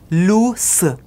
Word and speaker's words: loose: इसका जो प्रोनाउंसिएशन होगा लूस। इसमें स की साउंड होती है।